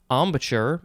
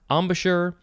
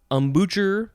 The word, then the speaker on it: embouchure: three the synonym is embouchure there's a couple ways you can say this word probably embouchure embouchure ambucher nope i don't think people say that it is spelled e-m-b-o-u-c-h-u-r-e